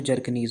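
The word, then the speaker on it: Bjerknes: और इसका इंग्लिश में जो बी है वो साइलेंट होगा तो जर्कनीज होगा, क्योंकि अभी कभी कभी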